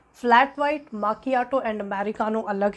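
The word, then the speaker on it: macchiato: जैसे ये देखने से लग सकता है कि ये मैचियाटो है जबकि एक्चुअल में ये माकियाटो है.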